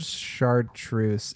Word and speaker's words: chartreuse: Yes, it's the first syllable char into truce is just it's a weird transition from my mouth.